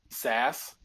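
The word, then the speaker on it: Szass: Yep, But it's SZAS, Sass.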